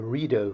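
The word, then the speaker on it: Rideau: The Reo Canal, and I have been told to pronounce it that way, is named after the Reo River, which in turn was named after the Reedo Falls.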